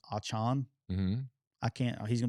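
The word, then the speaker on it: Achane: I guess he's now saying his correct pronunciation of his name is I think it's Achan. Mm-hmm. I can't. He's gonna be A-Chain to me because I can't get that out of my head.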